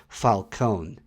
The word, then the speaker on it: Falcone: It's actually pronounced Falcone.